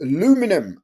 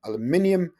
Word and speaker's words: aluminium: going to pick aluminium or as an Americans say alum aluminum aluminium hydroxide so let's just